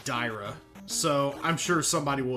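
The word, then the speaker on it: Daira: hey this guy uh i was pronouncing it darya yesterday uh but i think it's actually dyra so i'm sure somebody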